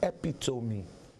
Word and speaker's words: epitome: also not forget someone I used to call this word and this man came up to me one and said that word is epitome you know people who